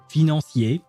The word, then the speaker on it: financier: I mean when I hear dark financeier as she says it, it just makes me hungry because um fosier that's how we we pronounce it in French.